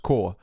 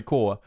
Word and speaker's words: corps: told me that like it's not supposed to be pronounced corpse it's supposed supposed to be pronounced core and i didn't even